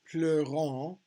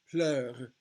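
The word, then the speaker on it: pleurent: And if they end with ENT, we do not pronounce, it's a mute syllable basically. Il pleure, elle chante, ils disent, elle mange. Okay, it's not pleurant, it's pleure, chante, disent, mange, and rit, which means they laugh.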